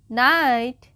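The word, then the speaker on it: knight: silent हो जाती है जैसे कि अभी हमने पढ़ा नाइट एन आई जी एच टी है है ना के एन आई जी एच टी है नाइट तो जी एच जो है इसमें साइलेंट है और के भी साइलेंट है ठीक है उसी तरीके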